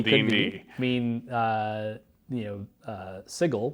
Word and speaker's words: sigil: I mean you know sigil which I'm always sure I'm pronouncing wrong you are saying sigil correctly actually that means the city